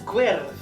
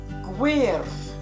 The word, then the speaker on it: gwyrdd: This is Gwyrdd. Gwyrdd.